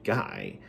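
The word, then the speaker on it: Ghy: imp sort of cat-like imp named guy and it's spelled g-h-y but you know apparently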